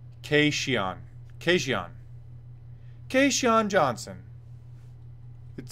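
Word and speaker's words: Kajan: Cajun Johnson had Dan Hardy and John Gooden pronounced his first name Casey on occasion Casey on Johnson it spelled kaj a.m.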